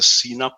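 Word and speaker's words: CNAPP: new kind of category something called cnap again pronounced the cena please cloud native application protection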